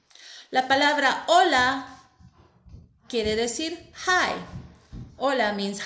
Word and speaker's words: hola: La palabra hola quiere decir hi. Hola means hi. And as you can see, we do not pronounce the letter H. We begin only by pronouncing the O.